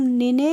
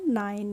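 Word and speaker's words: nine: नाइन हो जाएगा तो एन आई एनई को हम निने नहीं पढ़ते हैं हम पढ़ते हैं नाइन क्या पढ़ते हैं नाइन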